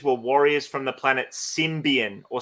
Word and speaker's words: Symbion: Action Figures were Warriors from the planet Symbian symbion arapa decks more 80s action figures Warriors from